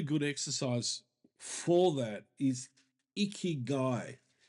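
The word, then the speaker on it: ikigai: it one really good exercise for that is iy guy it's a Japanese process which I highly recommend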